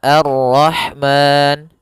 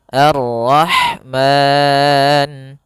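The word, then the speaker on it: الرَّحْمٰن: Kita boleh memanjangkan dua harakat pada lafal ma. Boleh juga empat harakat dan boleh pula enam harakat. Maka arrahman dua harakat. Arrahman empat harakat. Arrahman 6 harakat.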